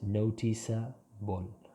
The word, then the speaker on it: noticeable: Notice, if you remove the E, the combination CA is K or K. The pronunciation would change. So there you need the E. So that is noticeable.